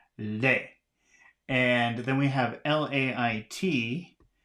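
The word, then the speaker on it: lait: have l-a-i-d and I guess that should be pronounced Le and then we have l-a-i-t and that should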